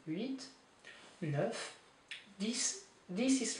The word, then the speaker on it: huit: Huit, you do pronounce the T, huit.